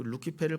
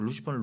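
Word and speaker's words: Lucifer: 버전은 벌게이트 a 그 루키페르 그대로 가져 루시퍼 루시퍼 해 놨다고 루시퍼는 루키페르 영어식 발음입니다 거기까지도 좋아요 근데이 루시퍼를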